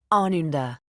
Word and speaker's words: ananda: 2 live in ananda ananda i repeat it just the way he says it with the accent on the first syllable ananda awesome what does it